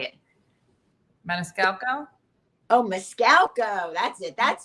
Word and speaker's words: Maniscalco: say his name montuso Monte you say it Maniscalco oh mcal that's it that's the one that's